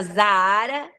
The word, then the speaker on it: Zaar: E é Zahara, né? Se pronuncia como deserto do Saara, até por uma questão